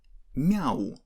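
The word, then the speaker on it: мяу: In this example, when we pronounce mama, we keep M hard, but when we pronounce meow, we make letter M softer, and this is exactly because of ya that goes after M.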